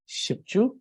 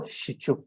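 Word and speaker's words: བཞི་བཅུ: Therefore, we use it as shipchu or shichu. We can either say shichu or shipchu.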